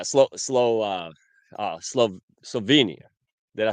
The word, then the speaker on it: Slovenia: great thing yeah slow slow uh uh SLO Slovenia did I say it right yes Slovenia yeah